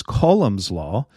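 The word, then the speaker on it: Coulomb's law: all to go down colums law or I think it's actually pronounced colum's law uh published way back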